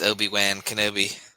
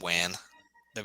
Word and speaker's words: Obi-Wan Kenobi: You know that uh Obi-Wan, it's it's Obi-Wan Kenobi. Obi-Wan. Well, I said Wan Ob. Yeah. I really just didn't pronounce it right.